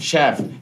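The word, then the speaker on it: chef: की बात करता तो शेफ की स्पेलिंग है सी एच ई एफ शेफ ये एक फ्रेंच वर्ड है शेफ ठीक है डोंट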